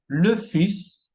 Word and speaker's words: fils: Lettre S qui se prononce, tenemos plus, que es más, un ours, un oso, le fils, el hijo.